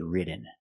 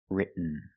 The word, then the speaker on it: written: other example written written so you can say written or written written is more common just don't say written it's written let's look at some examples